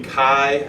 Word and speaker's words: Cai: in 2015 with Tony Chi at Penn sigh well how do you say I won't it's correct if he doesn't want to pronounce Chi he shouldn't spell it CAI and then let's eat